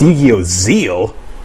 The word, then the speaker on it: ZEXAL: Yu-Gi-Oh! ZEXAL? What does that mean? Pronounced Yu-Gi-Oh! ZEAL? The X is silent? Who ever heard of a silent X?